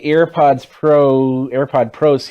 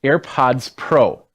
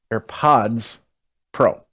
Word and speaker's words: AirPods Pro: Let's go back to the AirPod Pros here. I always say it wrong. It's AirPods Pro. AirPods Pro.